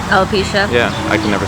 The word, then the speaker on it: alopecia: have uh how do you say it um alpecha alopecia yeah i can never say it right so